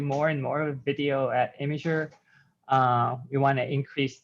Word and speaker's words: Imgur: said it's jif and just as you pronounce it imager and not inger the person that invented